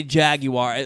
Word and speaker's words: Jaguar: So I say Jaguar, like almost like I'm joking around, but that's how you say it.